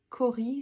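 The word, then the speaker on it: cauri: Cori, ça s'écrit C-A-U-R-I.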